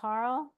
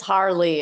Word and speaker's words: Harrell: We have Vice Chair coming in, Harrell. Is still here? Yes, she is. Hi. I'm still here. Yay. Oh, and it's Harley. It gets mispronounced a lot.